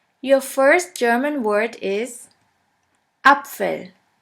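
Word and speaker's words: Apfel: the word far your first German word is upell upell which means Apple let's continue with b b which is pronounced like the b in the word banana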